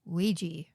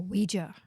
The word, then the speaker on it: Ouija: we are talking about is Ouiji or Ouija however you want to pronounce it apparently both ways is correct mhm what's going on